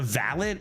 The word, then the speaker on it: valet: your car but a valid is like more like a butler style and that's pronounced valid at least in America because America also